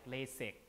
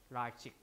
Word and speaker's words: LASIK: They might pronounce loan words in the original way, like LASIK, instead of the way that language phonology would do it, LASIK, like that, LASIK, like that.